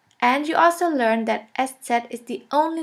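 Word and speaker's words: ß: this we call it s set s set or shafus s shafis s which means a sharp s this letter is pronounced like the double s in the word kiss and always remember this letter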